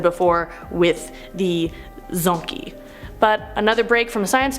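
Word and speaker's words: dzo: of chromosomes as I've said before with the Zony but another break from science talk look at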